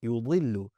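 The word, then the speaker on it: يُضِلُّ: You did not round your lips. You said yudillu.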